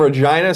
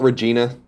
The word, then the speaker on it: Regina: so checking in from Regina Saskatchewan the city that rhymes with fun Colin and Greg live